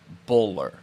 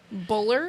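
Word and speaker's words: Boulware: said Garrett at first everybody in that area calls him bowler Buller yep but it's spelled bowlware b-o-u-l-w-a-r-e but the south is bowler which is kind of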